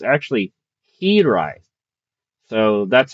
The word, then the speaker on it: Hiraeth: However um it's not uh it's based off the Welsh word that means homesick and it's actually herite. So that's how you pronounce the game.